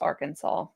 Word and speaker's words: Arkansas: Um, it says Arkansas must be pronounced Arkansas.